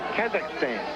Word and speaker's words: Kazakhstan: Soviet from the Southern Republic of Kazakhstan. You know where that is. I know where the Soviet Republic is. I just won't take on the pronunciation you just threw out. Kazakhstan.